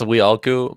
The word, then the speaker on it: Wilku: It's Wheelku, but everyone says Wheelku, which is totally fine.